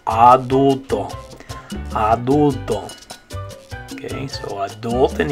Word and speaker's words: adulto: Okay, the next word we had was adult in English. So in English, you'd say adult. And that one, the A is making like a sound, adult. But in Spanish, it's A, adulto.